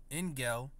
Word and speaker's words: engel: Oh, Engel with hard G, you know, Engel, because it said the hard G.